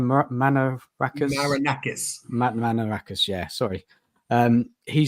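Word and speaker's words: Marinakis: You know, Makaraka's, sorry if I pronounce his name, was his name Manarakis? Manarakis, yeah, sorry.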